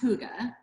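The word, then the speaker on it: Hygge: our Instagram handle for Huga wellness and it's pronounced Huga h o o g h like Huga or g- ah H but it's spelled Hy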